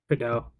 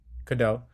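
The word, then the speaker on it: Cadeau: Um and then Elliot Kadu I don't know how to say his last name. Kadau Kadau 19 points on five or five for 11 from four from the three-point line.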